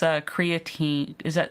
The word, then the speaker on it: creatine: What is this creatine?